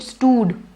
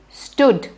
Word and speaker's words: stood: house then stood now the word stood has a double oh but don't make it stood just because it has a double o make it the moon sound that's not the case it is stood the short who stood stood listening in